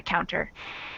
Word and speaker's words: counter: Although this T is between two vowels, but you pronounce it as T, not D.